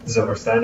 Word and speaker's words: Zilberstein: They pronounce it Zilberstein. Zilberstein, okay. Like Frankenstein.